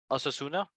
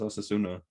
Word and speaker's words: Osasuna: you watch Real Madrid and Osuna is that how you pronounced Osuna uh as oh you can't call them ass they're not that bad they I oos yeah I think it is osasuna nice all right did